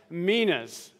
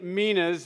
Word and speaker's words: Minas: to be tackling the parable of the 10 Minas uh and that is how it is pronounced uh I did a couple Google searches